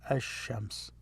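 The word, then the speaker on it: ash-shams: l2 it becomes shams so you notice i did not pronounce the l so it becomes ashames it's like stressed ash as shams so a group of letters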